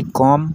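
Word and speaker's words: comb: Does Ruby कॉम her hair. यहाँ पर बी जो है, यहाँ पर बी साइलेंट है।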